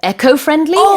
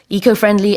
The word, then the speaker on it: eco-friendly: And I think it's okay to pronounce it echofriendly as well. In this case, this is not a situation of British or American English. It's just both pronunciations are accepted.